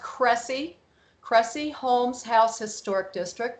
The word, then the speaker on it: Cressy: All right, Cressy, and it's pronounced Cressy, Cressy Holmes House Historic District, Middle Township, Cape May County.